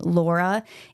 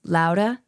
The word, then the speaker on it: Laura: want to note that I do understand in Italian the name Laura is pronounced Laura, but I'm going to say it Laura because otherwise everyone who's